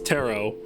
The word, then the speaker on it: tarot: Eliza in the chat is giving me shit for pronouncing the second T in tarot. Yeah, I mean, it is tarot.